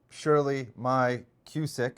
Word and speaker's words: Shirley Maia-Cusick: Senate from New Jersey, Shirley Maia-Cusick. And I apologize if I butchered your name.